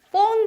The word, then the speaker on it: phone: phone 발음 하나 가르쳐 드릴게요. PH로 발음이 시작되는 것은요. F로 발음이 됩니다.